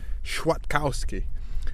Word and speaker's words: Kwiatkowski: came back was it it should be pronounced something like sure Kowski and greg was adamant